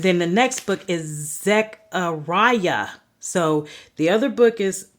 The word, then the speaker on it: Zechariah: And then the next book is Zechariah.